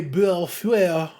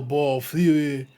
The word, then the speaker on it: Bellefeuille: It's probably Foyle, Bellefeuille, de Bellefeuille en français.